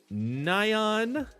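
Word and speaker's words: Nian: the I don't know the proper way to pronounce it neon neon Nyan the Something challenge n-i-a-n so Nyan we basically have to use four cards we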